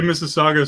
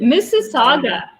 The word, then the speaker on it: Mississauga: written it would be it's just like mississippi but at the end wait no no see